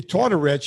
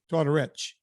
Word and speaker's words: Tortorich: The Tortorich has an H. Tortorich. Doesn't matter. People still mispronounce it. Somebody said to me the other day, your co-host Vinnie Tortoric.